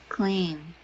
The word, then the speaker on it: claim: you pronounce this again claim claim not clam okay mightier okay cool